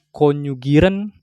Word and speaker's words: konjugieren: Ini bacanya konjugieren, ya kan?